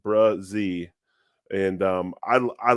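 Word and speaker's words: Bresee: Clemson and uh uh pronounced brazi is uh how you pronounce it brazee and um I I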